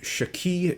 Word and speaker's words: Schkee: on one's predilections we're talking tonight about the shaki DB1 it's spelled s c ke as you probably saw in the headline so my thinking would be that such pronunciation would thus be ski but as this is a racing channel and